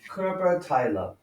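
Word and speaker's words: Körperteile: to say the body parts of your heart kerber tyler the kerber tyler zint ala okay uh and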